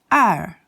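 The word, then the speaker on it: 二: The pronunciation is er. It's spelled E-R, and it has accent number 4, er.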